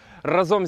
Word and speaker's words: разом: Разом зі мною сьогодні Андрій Шимановський. Чекай, я почув неправильний наголос. Ти мав на увазі разом?